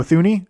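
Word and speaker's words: Thuney: Um, I don't think I did a prediction for this, but uh, Joe Thuni or Joe Tuni I think is actually how you pronounce his name.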